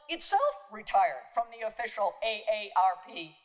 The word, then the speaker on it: AARP: no longer an acronym, pronounced as I have just pronounced it, following the pronunciation guide on the website, quote, one letter at a time.